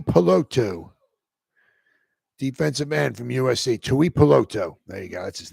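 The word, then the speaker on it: Tuipulotu: to Apollo 2 I peloto defensive man from USA Tui poloto there you go that's his name glad he pronounced it right I was too stupid to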